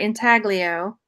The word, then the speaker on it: intaglio: carved out one so I think it's if I'm saying it right intaglio I might not be saying it right you're saying it right and they've got